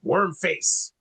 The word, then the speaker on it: Wormface: So if you guys get a chance, Wormface, you don't have a pro. Worm face. Yeah, just Wormface. You just got to say it like that.